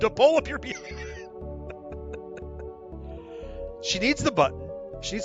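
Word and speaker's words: 四: Oh, and off she went. Ah, four is pronounced she, which is the word for death.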